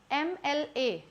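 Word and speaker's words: MLA: एल A correct है क्योंकि जब मैं लिख तो एम से रही हूं यहां पे पर म एल ए नहीं जैसे मंकी होता है एम ओ एन के इ वाई मैं यहां पे लिख रही हूं म से मंकी म एम जब लिखना है तो मैं म ल म ल ए नहीं बोल रही हूं मैं यहां ऐ म बोल रही हूं। ए म तो एक हिडन साउंड है।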